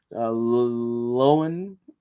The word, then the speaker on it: Loewen: Lowen is spelled Loewen.